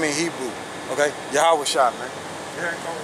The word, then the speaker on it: YAHAWASHI: That's how you pronounce his name in Hebrew. Okay? YAHAWASHI, man.